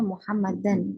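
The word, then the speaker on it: مُحَمَّدًا: sini muhammadnya di sini ada alifnya kalau ada alifnya berarti dibacanya muhammadan gitu ya muhammadan dia menjadi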